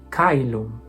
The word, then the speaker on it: caelum: Celum. Celum. Classical, caelum. Caelum. Ecclesiastical, celum. C is hard unless followed by an I, E, or diphthong, such as AE or OE.